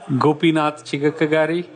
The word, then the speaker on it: Gopinath Chigakkagari: different but how do you say your name gopinatha chika kagari awesome you can call it Gopi Gopi alright